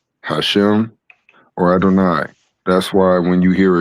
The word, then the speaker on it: Adonai: So the maserites using the vow points for adoni or adoni. Adoni using or Adonai, I'm sorry.